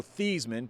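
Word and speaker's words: Theismann: or like Notre Dame forcing Joe thieman to change the pronunciation of his last name to rhyme with the Heisman Trophy except that one really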